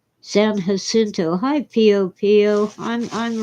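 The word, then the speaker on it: San Jacinto: I'm sick and tired of people calling it San Yasinto. It's Spanish and the J in Spanish is hot, not Yoda. San Hasinto.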